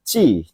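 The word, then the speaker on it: 血: Untuk soal nomor 6 ya, kanji itu ya, yang satu kanji itu dibaca adalah yang benar tuh nomor 2 minasang, yaitu bacanya chi desu ne.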